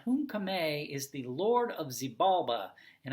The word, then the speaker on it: Xibalba: And Hun-Kame is the Lord of Xibalba, and I may be pronouncing that incorrectly, but I pronounce it Xibalba.